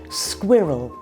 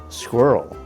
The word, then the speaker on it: squirrel: And we say this word a little differently in British and American English. Squirrel. Squirrel.